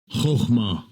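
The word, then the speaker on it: חכמה: So now we're going to listen to how this word is pronounced. Strong's H2451. Chokhmah. Chokhmah.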